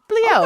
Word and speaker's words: bliaut: It's bliaut. That's French. Oh, bliaut.